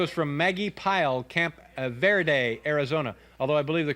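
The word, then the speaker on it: Verde: this comes to us from Maggie pile Camp ver day Arizona although I believe the correct pronunciation would be be day as if it were a b wouldn't it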